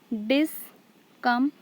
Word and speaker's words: discomfort: Here discomfort. So dis is unstressed, come is stressed, and fort is unstressed.